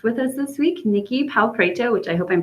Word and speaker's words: Pau Preto: Is that how you pronounce your name? Pretty close. Pau Preto. Pau Preto. Okay. Preto. Yep.